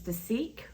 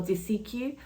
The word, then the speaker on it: Dasique: called de I think in English it could be pronounced as theek I think that's how a lot of you pronounce it or DEQ but in Korean writing in hangal it is De and so that's what I will be calling it in today's video